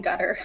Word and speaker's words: Qatar: And my Arabic teacher taught me that even though it looks like a Q in most transliterations, you pronounce it like a G, but you pronounce it as far back in your throat as possible.